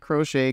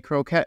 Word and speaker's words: croquet: Not Crochet, Croquette Mallet.